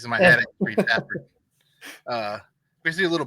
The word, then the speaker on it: Fafhrd: Fafhrd tells the reader how to pronounce his own name. See, you say I still say Fafhrd. He says it's Fafhrd.